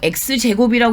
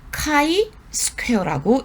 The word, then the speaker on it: 카이 스퀘어: 여기에 뭐 x제곱이라고 읽으시면 안 돼요. 카이 스퀘어라고 읽어주셔야 돼요.